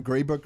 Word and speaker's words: Greybrook: then so dylan and darcy are here from gray book realty partners am i saying it right that's